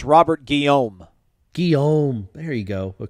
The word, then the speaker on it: Robert Guillaume: young dave chappelle yeah uh google says it's pronounced robert guillaume guillaume there you go but correct home i